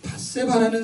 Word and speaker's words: 밧세바: 자, 밧세바라는 사람이 등장해요.